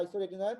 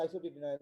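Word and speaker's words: isotretinoin: হ্যাঁ, আসলে উচ্চারণ হচ্ছে আইসোরেটিনয়েড, আমরা সবাই বলি আইসোটিটিনয়েড, না?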